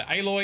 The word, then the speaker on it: Aloy: action is Hefty so aloy equals alloy silence equals silence that's the correct pronunciation okay let's save the